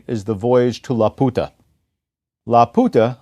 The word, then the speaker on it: Laputa: Laputa, I pronounce it that way rather than the English way Laputa, because it is a pun. It's the Spanish word for the prostitute.